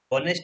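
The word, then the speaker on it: honest: Just मैंने 2 minute पहले बताया आपको, ऑनेस्ट है तो आप ऑनेस्ट को एच आप जो उच्चारण करो, आप ऑनेस्ट नहीं बोलते हो, आप ऑनेस्ट बोलते हो, यानी कि आपके लिए यहाँ पे एच साइलेंट है।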